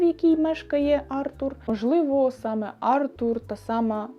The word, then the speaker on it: Артур: між життям і смертю Артур чи Артур насправді не знаю але мені здається що все-таки Артур адже це французький письменник тому я більше схиляюсь до того що наголос буде на у Артур тож молодий архітектор Артур